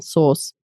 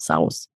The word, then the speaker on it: sauce: And I hear the souse because of the S A U they think of sour. Yeah, so I hear this sort of souse. But it's actually pronounced exactly the same, source. Tomato sauce, not souse.